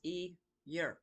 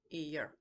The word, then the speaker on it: Eadha: Eeyur is spelled Eadha, but it is pronounced Eeyur. Eeyur.